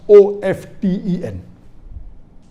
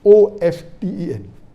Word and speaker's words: often: T is not silent, it should be pronounced.